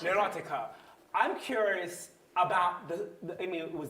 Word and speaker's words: Oiticica: looking at, let's say, in how do you pronounce it? Neurotica. Neurotica.